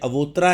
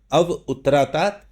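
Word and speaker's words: अवोत्तरात्: और अव उत्तरात है ये अवोतरा है वैसे पढ़ने में लेकिन जब आप इसको प्रोनाउंस करेंगे तो अव उत्तरात अव दक्षिणात मेरी उत्तर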